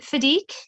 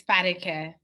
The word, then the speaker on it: Fadike: We also have, I'm sorry, is it Fadique? Am I pronouncing your name correctly? It's Fadike.